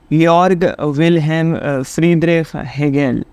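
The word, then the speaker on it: Georg Wilhelm Friedrich Hegel: अब इनका नाम क्या है, इनका नाम ज़रा प्रोनाउंसिएशन बता देते हैं। यॉर्ग विल्हेम फ्रीडरिख हेगेल।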